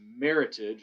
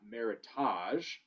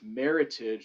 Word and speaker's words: Meritage: winner was meritage and the reason why it's pronounced meritage and not meritage which is a common misconception we oh the